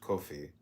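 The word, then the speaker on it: qoph: Comment on cop q o p pronounced kofi.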